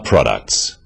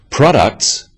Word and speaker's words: products: one syllable is stressed the wrong stress makes it hard to understand so conclusion not conclusion products not products even more important in